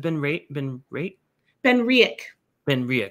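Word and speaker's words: BenRiach: He says, how do you pronounce it? Ben Riek.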